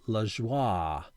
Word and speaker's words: Lajoie: This is apparently a black and white parallel of Nap Lajoie, or sometimes pronounced LaJoie.